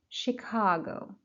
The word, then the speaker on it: Chicago: Skydeck Chicago. Skydeck Chicago. Skydeck, first syllable. Chicago, second syllable.